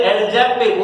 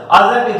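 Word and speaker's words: adjective: कुछ लोग बोलते हैं एडजेक्टिव, वो गलत है माय डियर स्टूडेंट। एडजेक्टिव जब भी ए और जे के बीच में डी या कोई भी लेटर आए तो उसका प्रोनाउंसिएशन नहीं करते हैं।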